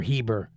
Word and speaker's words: Eber: Hebrew is the descendants of Eber, or Heber, however you want to pronounce it.